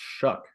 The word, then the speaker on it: Shough: potentially our friend uh he tweeted in 2017 that it's pronounced shuck Shu I was close I said shook yeah so it's Tyler shuck okay we'll go back